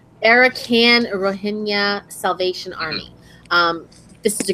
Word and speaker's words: Rohingya: They're called sorry if I say this wrong, the Rohingya? I don't think you pronounce the G. I'm pretty sure it's just Rohingya.